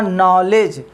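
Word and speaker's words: knowledge: English में आप जाएंगे, मैं बोलूँगा नॉलेज, मैं बोलूँगा नॉलेज, तो एन से आ रहा है प्रोनाउंसिएशन, लेकिन जब लिखेंगे तो KNO लिखेंगे, ठीक है ना।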